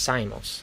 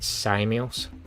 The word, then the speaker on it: Samos: It's pronounced Samos. That makes more sense. Samos. It's just because the way you spelled it with the pronunciation was sort of as if you pronounce it Samios, but Samos makes sense.